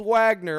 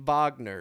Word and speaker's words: Wagner: for five and then old Wagner old Vagner if you want to be correct in the pronunciation Vagner five and a half